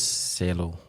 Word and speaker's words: cielo: What does cielo mean? Did I pronounce it right?